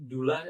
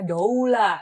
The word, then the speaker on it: doula: Nah, eh jadi Dula itu D O U L A ya. Jadi ada yang suka panggilnya daula du kan gitu ya. Jadi ee ya kita pronunciation-nya dula eh dula dari bahasa Yunani yang artinya sebetulnya woman servant.